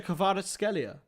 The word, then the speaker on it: Kvaratskhelia: I'll just pronounce it phonetically. Kavicha. Karachalia. You weren't far. That was really good. You got his first name right. It's Kavicha Kvaratskhelia. There you go.